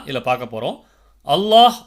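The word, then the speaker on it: الله: உச்சரிக்கப்படும்ன்றதுதான் இதுல பார்க்க போறோம் அல்லாஹ் மற்றும் அல்லாஹும்ம என்ற வார்த்தைக்கு முந்தைய வார்த்தையில் உள்ள கடைசி எழுத்து ஃபத்ஹ் அல்லது வம்மா செய்யப்பட்டிருந்தால் அந்த லாமை கனமாக உச்சரிக்கணும் அதாவது அல்லாஹ் அப்படின்ற வார்த்தையை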